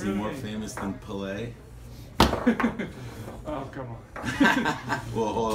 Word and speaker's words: Pelé: He more famous than Pelé?